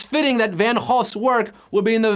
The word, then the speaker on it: Van Gogh: The Louvre, MoMA, or the Van Gogh Museum? Yeah, that's right, I'm saying the proper Dutch pronunciation, Van Gogh.